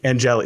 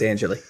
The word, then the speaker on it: Angeli: I had to ask her how to pronounce her last name, and I almost said it wrong. Angeli. No, it's Angeli. I know, it's Angeli.